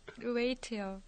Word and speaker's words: wait: 웨이트요. 웨이트요? 웨이트. 웨이트. 몸무게 할 때 그 웨이트 말고. 네. 아, 왜냐면 발음이 똑같아서. W-E-I-G-H-T가 몸무게 웨이트. 기다리다 웨이트는 W-A-I-T. W-A-I-T. W-A-I-T.